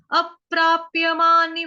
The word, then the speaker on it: अप्राप्य: अप्राप्यमानि वर्तन्ते, अप, अ के साथ आधा प, उसके बाद है प्राप्य, प्रकार वाला, प्रभाव वाला, उसके बाद है प्र के साथ आ की मात्रा, प्रा, उसके बाद आधा प, प्राप्य, अप्राप्य, अप्राप्य, प्य, ठीक।